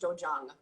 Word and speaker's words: dojang: Yeah, dojo is Japanese, and this is a Korean martial art, so it's pronounced dojang.